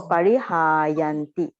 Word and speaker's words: parihāyanti: On the first one, you didn't make it the ha long sound. So parihāyanti. All right.